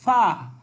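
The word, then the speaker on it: ف: ফা, ফা উপরের দুই দাঁত নিচের ঠোঁটের সাথে লাগিয়ে ফা উচ্চারিত হবে, ওকে।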